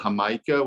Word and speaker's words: jamaica: were just describing um it's called hamaika which is spelled like jamaica and uh it's also